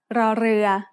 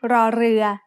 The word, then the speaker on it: ร: In other words, this is an R sound with a trill. Not everyone can make this sound easily, but you can get better with practice. When รอเรือ is the final consonant